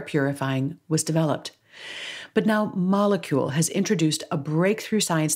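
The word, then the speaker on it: Molekule: k UL e dot-com so that's molecule that's spelled with a k and then enter the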